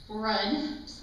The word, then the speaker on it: Rudd: So, in honor of our beloved new county executive, I have created the Terry Moore Rudd, rhymes with crud, decision maker wheel.